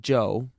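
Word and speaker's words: Chu: is amazingly Cooperative Joe spell it c h u if you want to be exotic it still pronounced Joe and that's his name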